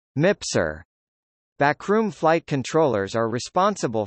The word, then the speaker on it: MPSR: The backroom was formerly called the Staff Support Room (SSR) and is now called the Multipurpose Support Room (MPSR), pronounced MIPSR.